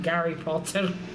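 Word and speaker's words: Гарри Поттер: Nor as it is we say in Russia, Gary Potter. Yeah, in Russian's Gary. Because it's hard for some reason in Russia to pronounce the H.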